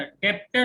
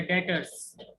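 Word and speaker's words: debtors: और ये वर्ड होता है डेटर्स, है ना? बी साइलेंट होता है बेटा इसके अंदर। डेप्टर हाँ, बोलते हैं कई बच्चे, डेटर होता है डेटर्स।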